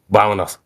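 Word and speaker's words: vamos: said gravity container also your lips should touch to pronounce the the V sound in in a Spanish so vomos vomos the V it's it's kind of like the B sound in Engish the B yeah exactly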